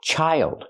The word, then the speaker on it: child: job and this word child use the long I like hi and like child but